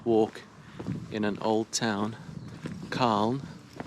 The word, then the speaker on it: Calne: in an old town khan it's spelled c-a-l-n-e in wheelchair in england